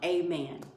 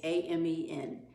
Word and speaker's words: Amen: It's spelled like Amen. It's A-M-E-N. Daniel Amen.